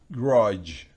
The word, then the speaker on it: grudge: Grudge. Grudge. La D no se pronuncia.